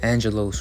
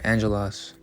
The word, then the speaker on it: angelos: Alright, so this is in the Greek, and it's pronounced angelos or angelos, but it means a messenger, envoy, one who is sent, an angel, a messenger from Yahweh.